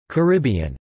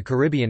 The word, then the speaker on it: Caribbean: common pronunciation in the Caribbean itself, but according to the Dictionary of Caribbean English Usage, the most common pronunciation in Caribbean English is in fact on the first syllable, car, bn.